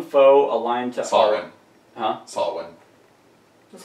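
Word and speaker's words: Samhain: So it's S-A-M-H-A-I-N, and it's pronounced... Someone. Someone? Someone. Sawin.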